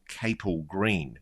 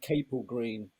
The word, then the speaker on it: Capel Green: It gets pronounced both ways by different people. I think we favor cable green.